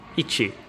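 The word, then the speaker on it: いち: like this it's called ichi ichi i is like an e sound so ii chi chi e so beachy there - there's two lines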